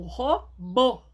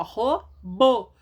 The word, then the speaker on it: robô: É um robô. Então, ó, lembrando, ó, robô. A sílaba tônica é aquela que vai ser acentuada.